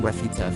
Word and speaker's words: refute: help you memorize this refute rhymes with refuse when you disapprove of something or if something is false or incorrect you ref refute it or disapprove refute sounds like again fuse IE again false disprove